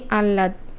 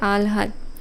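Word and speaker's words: আহ্লাদ: যেমন আমরা উচ্চারণ করি আল্লাদ এটি ভুল উচ্চারণ আসলে সঠিক উচ্চারণটা হবে আলহাদ অর্থাৎ আগে ল এর উচ্চারণ তারপরে একটু হ এর উচ্চারণ অর্থাৎ এখানে লিখতে হবে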